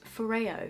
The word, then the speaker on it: FOREO: good Christmas present I am actually working with Ferrara on this part of the video did you know that I've been pronouncing this for you for the past I